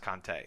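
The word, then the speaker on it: Kaante: version of Reservoir Dogs it's spelled k a a n t I think it's pronounced keante I'm not sure if anybody actually knows that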